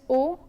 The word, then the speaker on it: au: lay contracts - they au and aux are both pronounced as oh but au precedes a